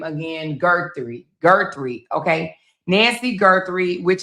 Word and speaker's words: Guthrie: Gertie.